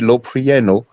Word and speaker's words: Loprieno: And in that article from that PhD Loprieno, now it's spelled Lopri, Loprieno. I'm sorry, Loprieno.